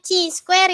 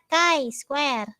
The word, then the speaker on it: chi-square: yang indah ya Mah bacanya bukan chi-square ya Indah Kai Square Oke jadinya disebut-sebut Cici